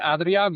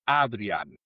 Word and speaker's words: Adriaan: Si dices Adrián, me parece bien, pero en Ok. holandés es Adrián.